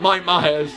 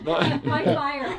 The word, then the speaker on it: Mike Meyer: Oh no, not Mike Myers. Mike Meyer. Not Mike Myers. That's how you pronounce it.